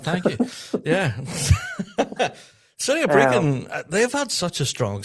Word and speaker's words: Brecon: Yes, pronounced correctly as well, Scott. Thank you. Yeah. City of Brecon, they've had such a strong season this year.